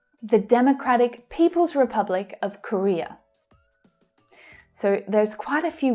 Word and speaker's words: Korea: So the middle syllable is stressed there. Korea, Korea. The other two reduce to the schwa sound.